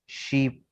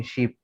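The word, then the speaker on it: sheep: शीप। ठीक है, इसका भी खींच के पढ़ेंगे, शीप। शिप वो जहाज हो जाएगा, SHIP वाला, वो अलग है, शीप।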